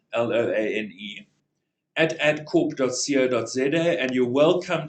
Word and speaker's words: Loane: Loan is spelled like a loan from a bank with an E at the end, Loane.